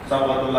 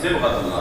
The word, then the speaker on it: صبغۃ اللہ: جاتے ہیں صبغۃ اللہ, صبغۃ اللہ غلط تلفظ ہے, صبغۃ اللہ, ساتھ کے نیچے زیر ہے, ساتھ کے اوپر زبر نہیں ہے, صبغۃ اللہ نہیں, صبغۃ اللہ.